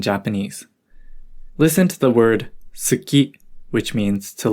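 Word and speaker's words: 好き: listen to the word tsuki which means to like notice how we don't really pronounce the u sound when we say saki it's common for the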